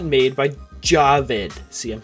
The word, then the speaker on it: Jawed: just it looks like it would be called jawed what the w jabbed is the correct pronunciation of youtube co-founder javid karim's first name yeah still don't believe me